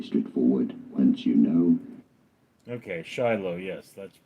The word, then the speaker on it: Shiloh: So how do you go about pronouncing it? Shiloh. Shiloh. Pretty straightforward once you know. Okay, Shiloh, yes, that's how it's pronounced.